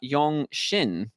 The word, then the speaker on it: Yeong-shin: I've just realized I've been saying his name wrong. I should have been calling him Yong, but his name is Ma Yong Shin.